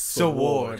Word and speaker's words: sword: You're saying it wrong. It's sword. It's sword.